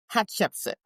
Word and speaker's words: Hatshepsut: Okay, that said, how do you pronounce her name, by the way? Hatchepsit.